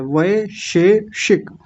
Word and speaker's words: वैशेषिक: वय शे कई बार बड़ा गलत उच्चारण होता है क्योंकि अजीब से शब्द हैं। अजीब से अक्षर हैं इसमें वेशेषिक बोलते हैं कुछ लोग वेशेषिक नहीं व शेषिक वय ऐ की मात्रा है। श पर ए की मात्रा है।